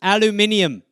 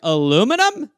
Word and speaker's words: aluminium: roll paper towel it never ended everything even pronunciations aluminium first time i heard aluminium i was like is that a future man they were like no it's what you put pepsi in i was like aluminum what so there's a lot but yeah cookies